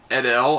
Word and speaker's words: Idle: his name but uh he's played by Eric edel I think he's how you do it how you pronounce it i dle e but he's been